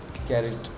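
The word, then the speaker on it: caret: do you pronounce this you pronounce it like carrot carrot Okay Okay carry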